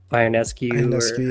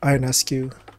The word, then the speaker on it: Ionescu: be the one that I want uh Sabrina iron escu how is that how you pronounced her last name yeah ionescu so like that's the one I also want